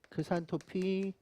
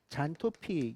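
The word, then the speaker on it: 크산토필: 카로틴, 크산토피. 요즘은 크산토피를 뭐라고 부른다? 잔토피. 영어식 발음으로 다 바꿔놨다.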